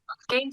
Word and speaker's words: gehen: Gehen Sie links. gehen Sie links, বুঝতে পারেন যে গেহেন ভার্বটারে কিভাবে উচ্চারণ করছে, gehen Sie, মানে এইচ উচ্চারণ হয় না, gehen Sie links, অর্থাৎ আপনি বামে যান।